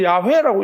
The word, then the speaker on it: 야훼: 계속해서 여호와도 우리가 여호와로 썼자 어릴 때도 여호와 써. 근데 여호와는 확실히 아니라고. 그래서 학자들은 대부분 다 야훼라고 이야기해요. 그 히브리 하나님을 나타내는 말이 우리가 부르면 안 된다고 해서 아도나이라고 그걸 불렀다가 그걸 야훼라고 실제적으로 발음을 붙여서 야훼라고 붙였지만 그 또한도 그것인지 아닌지를 모른다는 거예요. 복음이 없기 때문에. 뭐라고 그 당시에 사람들이 불렀는지는 정확하게 우리는 알지 못한다는 거죠. 그냥 야훼라고 추정할 뿐입니다.